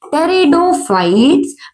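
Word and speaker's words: Pteridophytes: था वो क्या थे टेरिडोफाइट्स पीस साइलेंट है बेटा टेरिडोफाइट्स नहीं क्या है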